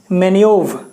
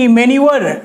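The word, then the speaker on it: manoeuvre: है वर्ड, क्या है, मैन्यूव। MENOEUVRE, मैन्यूवर नहीं, मैन्यूव पढ़ते हैं इसको, मैन्यूव, वहां पे ही जाके रुक जाते हैं, मैन्यूव। जी हाँ, उच्चारण सही से कर ले, मैन्यूव, यानी पैतरेबाजी या कौशल।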